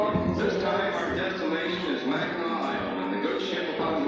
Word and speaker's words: Mackinac: on this unique island, we thought it was Mackinac, but we were informed that the correct pronunciation is Mackinac, as it is the French derivation of the original Indian name.